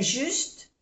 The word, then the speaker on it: juste: Le supermarché est juste, no se pronuncia la E, juste, en face de chez moi.